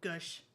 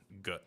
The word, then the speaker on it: Goosh: I would have spelled it Gush. Like gush? No, it's Goosh. Goosh. Goosh. Okay. It's like skadoosh, Skadoosh.